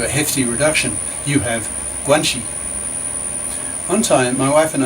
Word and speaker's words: guanxi: Chinese wife is the phenomenon of guanxi, pronounced guan-xi. Guanxi means relations, that is, who you know who can help you reach some goal.